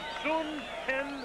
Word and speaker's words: Hyun: there's the ring record it's pronounced Zen Chung like it was hn instead of Hy excellent crowd